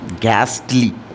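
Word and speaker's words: ghastly: दूसरा वर्ड है आपका जी एच ए एस टी एल वाई इसको क्या क्या पढ़ेंगे ए तो ऑलरेडी साइलेंट रहेगा इन दोनों में तो इसको आप क्या पढ़ सकते हैं एक तो आप ऐसे पढ़ सकते हैं गैसली एक आप गैसली प्रोनंसिएशन करते हैं इसको गैस्टली क्या गैस्टली ऑलराइट ये प्रोनंसिएशन बेसिकली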